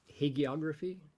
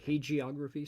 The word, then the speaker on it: hagiography: This is called hagiography or hagiography, soft G or hard G.